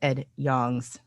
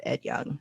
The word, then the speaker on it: Yong: And everyone points out that I mispronounced Ed Yong's name. Ed Yong, not Ed Young.